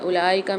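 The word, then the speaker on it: أولئك: वन कफ कजब आयातना उ असहाबार हु फीहा खलिदून अच्छा उलाका में यहां पर वाव आ रही है तो इस वाव को हम साइलेंट कर देंगे क्योंकि इसके ऊपर कोई भी हरकत नहीं है।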